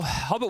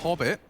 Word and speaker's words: Hobbit: Hobbit rhymes with pop it.